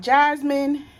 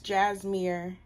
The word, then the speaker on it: Jasmir: my name is not jasmine it's not it's not that my name is jasmir um everybody calls me